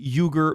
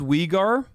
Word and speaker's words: Uyghur: uh approaches to dealing with uh the the yugo muslims said well we learned from america on how to deal with uh radical muslims with radical violent islamist terrorists it's pronounced wigar it's pronounced you dumb half